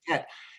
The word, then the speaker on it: tête: They got rid of the S because nobody pronounced it, replaced it with a circumflex, but it's tête.